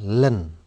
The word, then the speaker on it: ln: adalah lnx + C LN ini bacanya Bagaimana pak ini bacanya Len ya Len biasanya nilain